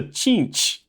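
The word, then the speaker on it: Tzeentch: right in here so let's move on to chinch which is spelled t-z-e-e-m-t-c-h a so so chinch uh is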